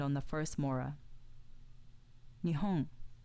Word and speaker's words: 日本: on the first mora nihong meaning japan was an accent on the second mora compare nihong nihong you